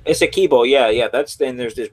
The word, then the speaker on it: Essequibo: Like I can't say it right. Guyana Esquiva or something like that. Or Essequibo, yeah. Essequibo, yeah.